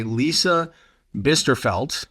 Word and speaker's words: Lisa Bisterfeldt: I'm Ed Gaudet, the host of our program, and today I am joined by Lisa Bisterfeldt. Did I pronounce that correctly?